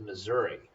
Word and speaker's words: Missouri: right this one is missouri which sounds like misery and you can remember